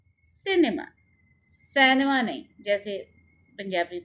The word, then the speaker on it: cinema: First syllable के ऊपर हम स्ट्रेस डालेंगे and it will be cinema.